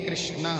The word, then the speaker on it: कृष्ण: क्योंकि कर सती कृष्णा कर सती कृष्ण जो सबको अपनी ओर आकर्षण करता है वही कृष्णा है कर सती कृष्णा इसका नाम लेने के लिए जीव को टेढ़ा